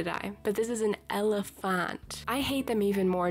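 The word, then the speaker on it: Elephante: Elephant, which is how you pronounce E-L-E-P-H-A-N-T-E. which looks like it says Elefante, correct? Yeah, no, it's not apparently, because Neopets hates me as a person.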